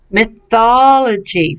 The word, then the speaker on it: mythology: let me hear you mythology very good so the emphasis goes on the first part of the word